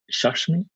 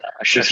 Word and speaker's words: Shashi: This exactly what Shashmi, if that's correct. Sorry if I mispronounced your name. Shashi. We want to get Shashi.